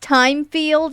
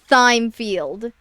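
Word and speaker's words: Thymefield: worry so much, Miss Timefield. You know, I have to remember that it's a that it's pronounced time field and not thfield. I I forget that the H is technically silent in that.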